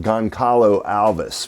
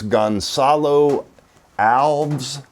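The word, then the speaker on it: Gonçalo Alves: I'm not even sure how to pronounce this, but this is, I call it Goncalo Alves, but I have been told that it's Gonzalo Alves.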